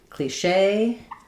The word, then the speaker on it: cliché: So in cliche, the stress is on the shay. Um, because it's from the French.